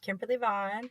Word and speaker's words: Kimberly Vaughan: i we welcome a special guest today uh kimberly vaughan am i pronouncing that name right kimberly that's right kimberly vaughn yes perfect we have kimberly vaughn who's a